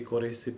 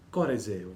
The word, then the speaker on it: corresse: Correse, voce del verbo correre, si pronuncia con la E chiusa, corresse, voce del verbo corrigere, si pronuncia con la E aperta, E.